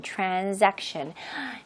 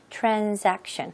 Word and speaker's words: transaction: 자, 거래, 매매는 명사로 transaction. 물론 S이지만 원어민들은 S하고 살짝 Z 발음을 넣거든요. 그래서 transaction. 너무 Z를 세게 하면 또 이상할 수도 있으니까 너무 transaction이라고 하는 것보다 살짝 transaction.